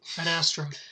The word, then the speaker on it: Adastra: controversy the other day isn't it ad asra or at asra well I think the way you pronounce it well we say a dasra at least that's how the author wanted this to be cre created or at least he made it one word on purpose but you know there's that